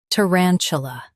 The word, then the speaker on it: tarantula: Stress ran and keep ch soft.